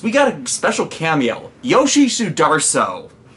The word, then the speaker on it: Yoshi Sudarso: Yoshi Sudarso. I mispronounced his name as Yoshi Sudaro when I did my